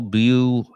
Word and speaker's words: Buel: Riley, Lloyd Wallace Winsell, Paul Blue Allen, and it's spelled Buel, Raymond Reynold Munchin, Kenneth Edward Weicher, Milford Everett Semple, another John Doe, was the last 26th.